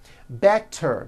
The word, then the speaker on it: better: Better becomes better.